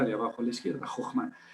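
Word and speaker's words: חכמה: H mau eh más bien hokma haciendo sonar la h y entonces llegaríamos a la primera de abajo a la izquierda, Jokma.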